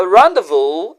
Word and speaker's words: rendezvous: back to our first word we had a rendevu at the cafe we had a rendevu at